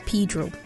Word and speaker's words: Pedro: Although spelled in the traditional Spanish way, Caymanians pronounce the name as Pedro.